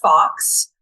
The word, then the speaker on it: Foxx: We came up with, so it was a collaborative effort between a woman named Claire Fawkes, but her last name is spelled Foxx, who is the fiction editor at Press 53 which is in Winston-Salem, North Carolina, and then me.